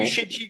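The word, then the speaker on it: Bucegi: Bucégy, parce qu'il faut bien le prononcer en Bucégy.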